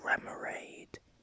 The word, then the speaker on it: Remoraid: Wait, So it's Remoraid is based on Remora, according to Bulbapedia. So it's, but I used to pronounce it Remoraid because I was just thinking of Nemo, Finding Nemo.